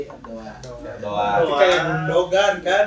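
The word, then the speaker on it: Erdoğan: Tapi intinya cara bacanya itu bukan Aran tapi Erdoan.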